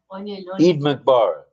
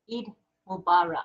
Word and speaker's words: Eid Mubarak: Eid Mikbar, right? Eid. Eid Mubarak. Mubarak. Yeah, Mubarak. All right. All right, I got it right. I'm a little challenged Mubarak. upstairs. Sorry. Eid Mubarak.